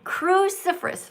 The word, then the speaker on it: cruciferous: All right, so this says cruciferous vegetables. Cru ci fer ous. Four syllables.